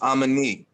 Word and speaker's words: Amani: All right, just think of it as like I'm a me.